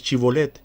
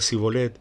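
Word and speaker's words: shibboleth: él respondía no entonces le decían ahora pues de chivo led y él decía si goles porque no podía pronunciarlo correctamente entonces le echaban mano y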